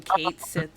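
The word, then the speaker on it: Cait Sith: those who actually know is either Scottish or Irish and it has a very very distinctive pronunciation not know he's been Kate Sith my whole life yeah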